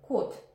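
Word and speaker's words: кот: exemple par exemple qute la lettre est accentuée parce qu'il y a que une syllabe c'est monosyllabe seulement des voyelles peut être accentué donc O est automatiquement accentué et on le prononce comme o qute par contre tamate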